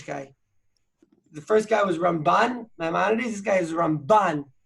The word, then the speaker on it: Ramban: So the way they say is, you have the Rambam, you put the accent on the first syllable, then you have the Ramban, you put the accent on the second syllable.